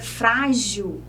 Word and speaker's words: frágil: voltando aqui o assunto a palavra frágil é uma dissílaba tem duas sílabas e a palavra sílaba fra que a penúltima sílaba é a sílaba mais forte é uma paroxítona então terminada em L por isso ela deve ser acentuada vamos falar um pouquinho